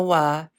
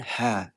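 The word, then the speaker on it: は: Kenapa huruf H ini dibaca wa? Jadi, kalau huruf H ini merupakan partikel, bacanya itu wa ya, bukan H.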